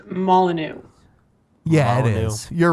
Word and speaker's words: Molyneux: I think it's pronounced Molyneux. Yeah, it Molyneux. is. You're right. Is it? Molyneux. Okay. Yeah, that's the only time on the Drunken Peasants that his name will be said correctly. Stefan Molyneux.